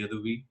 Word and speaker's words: Yadhuvir: And I have a YouTube channel, the Yadhuvir, and you can just check it out. how do you spell that?